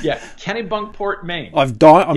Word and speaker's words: Kennebunkport: is that it yeah billy bunkport have i pronounced it right this time kenny bunkport yeah okay other than the first letter you got it yeah kennebunkport maine i've done it's